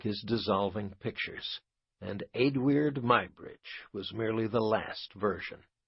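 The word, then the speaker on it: Eadweard Muybridge: There is one unusual obstacle to speaking about Adid Mybridge as he is usually called, namely that my subject's name cannot be pronounced. It can hardly be spelled. The best I can do aloud is Adid Mybridge.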